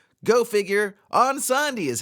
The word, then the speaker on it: Incendies: five minutes ago I did think it was pronounced in C's go figure on Sandi is how it's pronounced yeah thanks a lot